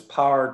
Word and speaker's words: power: It's spelled P-O-W-E-R, but it's pronounced as if we drop the syllable to ensure that there are 10 syllables in the line. Has power to break.